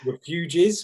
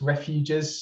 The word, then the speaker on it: Refuges: to talk about cool i wanted to ask you how to pronounce it i know we've already spoken refugees but i might be wrong yeah yeah i mean i'd i think i made the word up actually but it's it's refuges so it's kind of